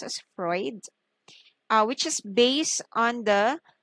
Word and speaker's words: Freud: is founded by sigmund freud okay this is pronounced as freud which is based on the theory of unconscious